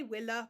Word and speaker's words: villa: Now, I'm going to say willa because I was taught to pronounce a Latin V as a W sound.